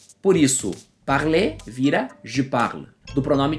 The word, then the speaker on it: parler: Começando pelos verbos terminados em ER, que na pronúncia vai ser E, como o próprio verbo falar que você já viu, parler. Não é parler e nem parler. Esse som de R não se ouve, ok? Mais ou menos como a